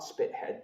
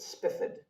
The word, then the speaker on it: Spithead: There was an admiral, Baron, and I'm told his name is pronounced not Spithead, but Spifford.